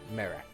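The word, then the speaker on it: Marek: Also, is Merrick's name spelled with, here's how I've got it so far, Meryck? M-A-R-E-K. Merrick.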